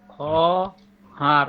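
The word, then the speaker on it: خواهر: খহার বোন, খ হার ওয়া হবে না ওটা? ওয়া উচ্চারণ হবে না তো, বললাম না খহারের তো অ উচ্চারণ হবে না, লেখায় আসবে কিন্তু উচ্চারণ হবে না, হুম।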